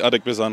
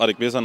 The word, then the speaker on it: Adegbesan: Also Adegbesan heißt normalerweise, viele sprechen es auch Adegbesan, aber so wie es du gerade aussprochen hast, war es okay.